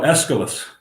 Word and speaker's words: Aeschylus: Here's one you can help me pronounce. Aeschylus, the dramatist? Oh, Aeschylus.